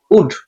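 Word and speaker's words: would: শুড shall শুড will উড এখানেও কিসের উচ্চারণ হবে না এল এর উচ্চারণ হবে না শ্যাল শুড উইল উড মে না অনেকে বলে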